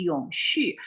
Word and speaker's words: Yongxu: So I figure out why some American can pronounce my Chinese name in the correct way, because they're German American.